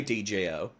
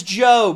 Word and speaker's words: Djo: Never mind, he just says Joe, but it's spelt with a D.